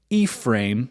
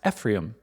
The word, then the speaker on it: Ephraim: two sons Manasseh and ephra which I think may actually be pronounced Ephraim um I've heard other people pronounce it Ephraim and I'm like why was I saying ephra this whole time but as you know